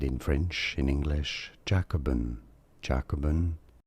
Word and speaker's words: Jacobin: Jacobin. Jacobin. Jacobin.